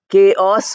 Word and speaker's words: chaos: is not pronounced at all L is not pronounced then you have chaos c h a oos chaos means confusion so CH is written as ch